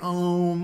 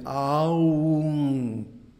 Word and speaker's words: Aum: The proper pronunciation is Aum. So each vowel, A, U, and gets 2 full beats.